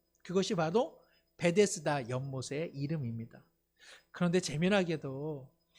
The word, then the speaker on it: 베데스다: 예수님께서는 예루살렘의 양문, 양이 지나가는 문 가까이에 베데스다라고 하는 연못을 찾아가셨습니다. 베데스다, 이것을 좀 더 분리해서 발음하자면 벳헤스다입니다. 그냥 연음으로 하면 베데스다, 실제로는 벳헤스다라고 하는 두 낱말이 복합되어 있는 단어인데요, 벳이라고 하는 것은 집이라는